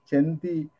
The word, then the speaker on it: chanti: in the original text chanti rhymes with anti and gives aesthetic diversion